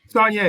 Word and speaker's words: Saulnier: Saulnier, yes, sir.